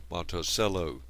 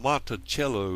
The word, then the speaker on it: Monticello: home the Monticello, and in fact this is the correct pronunciation for this word. It's just that in English we look at it and pronounce it as Monticello. But the term Monticello actually stands for, in